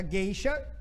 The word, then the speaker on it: gueixa: do ipi por exemplo a palavra gueixa é um serviçal japonesa é tem seis letras e cinco foram umas porque porque a gente diz considera o o não existe eles está escrita mas a escrita para nós não interessa interessa eu sou eu sou é só de gueixa né bicho por exemplo tem